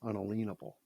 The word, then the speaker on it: unalienable: to the word unalienable we pronounce it unalienable right uh that's the way it was pronounced unalienable so if we are